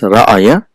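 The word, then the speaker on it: رأى: So we don't, originally it is ra'aya, but because it is changed for the phonetics reasons, it is pronounced as ra'a.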